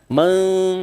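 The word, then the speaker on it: مَنْ آمَنَ: Man amana. Man amana. Men bukan man. Jelas.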